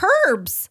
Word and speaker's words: herbs: Strawberries, cherry, plum, and dried herbs. Herbs. The H is silent.